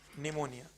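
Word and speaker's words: pneumonia: निमोनिया, निमोनिया पर spelling कहां से शुरू होगी, पी से। निमोनिया, पी साइलेंट है जो कभी नहीं बोलेगा, मतलब निमोनिया।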